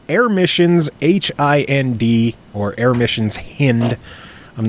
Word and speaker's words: Hind: I'm pretty sure it's actually supposed to be pronounced Hind.